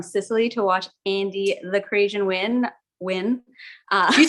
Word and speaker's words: Crasian: Lion Fights from Sicily to watch Andy the Crasian win.